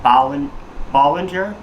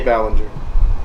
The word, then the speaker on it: Ballinger: YouTube star named Colleen Bollinger. Sorry if I mispronounced your name, Colleen. I got no issues with you. You meant to say Ballinger.